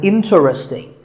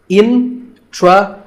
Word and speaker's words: interesting: This is mispronounced sometimes as interesting, but there are only 3 syllables, in-tra-sting, and the stress is on in, so the word is interesting.